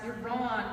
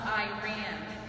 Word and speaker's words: Iran: It's pronounced Iran, not Iran. My country's name is not a simple sentence made up of a subject I and a verb, ran.